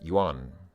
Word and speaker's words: yuan: how to pronounce it it's not yen it's yuan yuan um okay so my